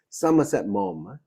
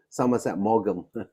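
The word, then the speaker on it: Somerset Maugham: by the name of Somerset mom you pronounce his his name is Somerset m not Somerset morgam I'm not sure how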